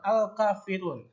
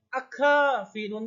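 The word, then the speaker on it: الكافرون: Jadi al-kafirun, bukan akfa, tapi al-kafirun, bukan akafirun, bukan akka, tapi al-kafirun.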